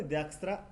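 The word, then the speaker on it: Dijkstra: क्या-क्या एल्गोरिथम है? वस्त्रा algorithm. Right? जे silent होता है।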